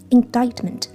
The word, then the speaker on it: indictment: 要注意，就是这个 C 是不发音的。在念饱满的时候呢，念 indictment，但是我们